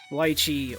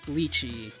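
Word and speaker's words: lychee: be I like pars oh lii or Lei depending on what's you know what your preferred pronunciation of that is fact that I recognize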